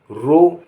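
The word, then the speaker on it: row: आर ओ डब्लू रो, रो माने पंक्ति।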